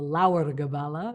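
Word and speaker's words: Lebor Gabála: years earlier and that's called the labora kabbalah or Laur the kabbalah if we're going to pronounce it in Irish Gaelic which gives the cosmological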